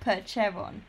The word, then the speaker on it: Percheron: Peron Peron Peron Peron you have to say it like Percheron Peron P we're just